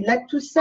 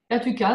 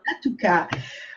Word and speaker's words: Latouka: Je ne sais jamais comment on dit, Latoussa Non, ou tu dis Latuka, c'est bien. Latouka.